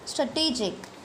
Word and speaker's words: strategic: Strategic, the stress is on second course, strategic.